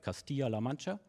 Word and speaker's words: Castilla-La Mancha: researcher at the University of, I hope I pronounce it right, Castilla-La Mancha.